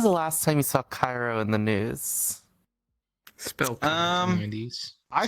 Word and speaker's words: Cairo: think of it yeah think of it like the capital city of Egypt the name of a